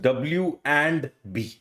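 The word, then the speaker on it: wandb: अ so this this I always pronounce as डब्ल्यू ए एन डी एंड then B क्योंकि हैरीपॉटर you know वैंड इज the first word I agreed but this is डब्ल्यू एंड बी ठीक है weights एंड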